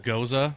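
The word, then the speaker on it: Gose: It is pronounced Goza.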